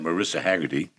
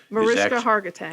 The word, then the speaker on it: Mariska Hargitay: The recent news is the revelation that Marissa Haggerty, Mariska Hargitay. Hargitay, I have to say it right, thank you, is actually, Nelson is her dad.